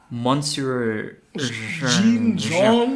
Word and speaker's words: Monsieur Jean: There's quite a lot of votes for Monsieur Jean. I want to stick to the French pronunciation. Monsieur Jean.